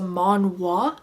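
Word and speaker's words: manhwa: actually not a manga it's a manwa I think is how you say it because it's Korean and it's so it's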